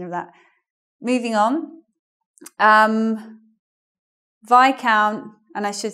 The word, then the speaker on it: viscount: But we say Viscount, even though it's vis here.